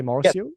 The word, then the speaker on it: Marcio: partnered um version of do I pronounce Marcio the right way if I say Marcio perfect nice nice so you